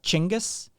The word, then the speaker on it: Genghis: about the mongol emperor genghis khan which is as i understand it is closer to a pronunciation of chingus than genghis but i you know